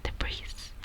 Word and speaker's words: debris: The way I'd say it is obviously debris, debris, debris. I'm noticing that the S is silent in a lot of these words.